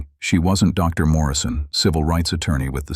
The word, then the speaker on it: Morrison: he'd asked, mispronouncing her last name as Moore-E-Son instead of Morrison.